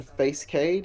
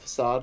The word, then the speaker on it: facade: know what face of facade rather for skate i used to i used to pronounce it as face kade when i was little i had never heard the word out loud yeah i've never heard